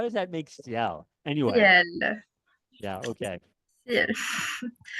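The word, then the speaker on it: CIL: We're working with British Workshop, located in Ciel, although it's spelled C-I-L. How does that make Ciel?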